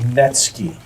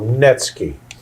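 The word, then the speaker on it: netsuke: They're called Netski. Okay, that's spelled N E T S U K E. The U is silent. So Netski.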